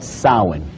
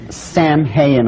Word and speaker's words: Samhain: in the occult world they call it solid now when you look at the name it looks as if it's saying Samhain or something like that no no no no this is properly